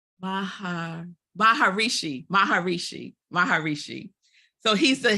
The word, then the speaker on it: Maharishi: I always say his name r wrong Mahar Maharishi Maharishi Maharishi so he's the Hindu religious leader